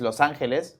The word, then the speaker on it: Los Angeles: No, but in Spanish it's Los Angeles.